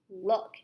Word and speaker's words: look: sentence, so we knew this wasn't the word Luke. So sometimes O-O can also say like in the word book. So book is spelled B-O-O-K, and that O-O makes the sound This is like that word, like book.